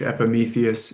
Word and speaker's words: Epimetheus: Uh that EUS is you're saying it right, the way we say it in English, Epimetheus and his brother Prometheus.